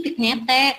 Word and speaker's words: vignette: Ini tulisannya sih vignette, tapi bacanya vignette. Vignette ya. Ini ya agak kesal dikit nggak apa-apa ya. Asal jangan penyet ya, Nak ya. Bukan atau TP penyet atau ayam penyet, bukan vignette ya.